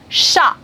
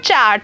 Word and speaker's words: chat: For example, sha. It's not chat, C-H-A-T. It's not chat. It will be pronounced as sha.